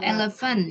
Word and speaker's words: elephant: Pakai S ya kalau Eleven ya Eleven tulisannya kan elephant ya Ada P ketemu H itu dibaca FL Eleven sama kayak alphabet tulisannya